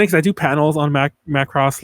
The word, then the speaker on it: Macross: It's funny because I do panels on Macross like at conventions, and everyone's always like, it's pronounced Macross, and I guess technically it is, but I'm gonna say Macross till the day I die.